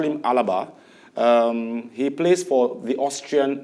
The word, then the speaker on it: Alaba: Now, Mukail, at an initial stage, we heard that David Alaba, I call him Alaba, as it's pronounced, but they call him Alaba.